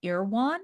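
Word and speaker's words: Erewhon: launched in 2020 and it's now available at irwan is that how you pronounce it irwan Market yeah oh I did it right look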